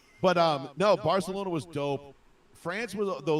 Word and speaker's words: Barcelona: It's Barcelona Barcelona. It's You got to say it with like a lisp. It's Barcelona.